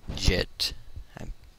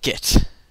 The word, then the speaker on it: Git: a program or a, Git is a Git. I always pronounce it Git Jit. Failing at speaking. I pronounce it JIT usually. I should be pronouncing it GIT, but I just read